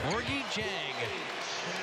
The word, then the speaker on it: Gorgui Dieng: Gorgui Dieng. It's spelled with a D. It's pronounced with a J.